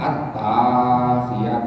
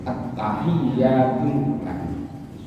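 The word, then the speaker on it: التحياتُ: Tahiyat kok bacanya at-tahiyat itu salah. Harus at-tahiyatu.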